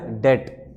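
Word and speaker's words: debt: कुछ बच्चे इसको बैड डेप्ट बोलते हैं, बी नहीं होता बोलने को में, बी साइलेंट है, तो बैड डेट होता है।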